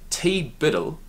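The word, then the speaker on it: TBDBITL: if it weren't for TB DB ITL pronounced T Biddle high school and college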